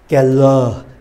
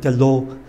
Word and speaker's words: quelle: Và chữ e là chữ ờ. Keller. Keller. Chứ không phải kello.